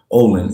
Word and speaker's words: Ollin: Olin is spelled Ollin, right?